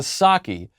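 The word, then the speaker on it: Psaki: that the p in saki is silent it's the same with the p in president biden this is very true you have white house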